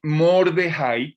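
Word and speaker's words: מרדכי: que son esther y mordejái que es el nombre como lo pronuncian los hebreos a mardoqueo mordejái ese nombre mordejái suena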